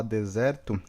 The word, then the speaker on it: desert: E se eu quiser falar deserto, é desert, ó, desert é deserto. E dessert, dessert é sobremesa, tá?